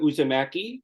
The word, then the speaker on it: Uusimäki: a a First Time guest here Dr uzamaki did I pronounce that correctly yes s perect who hails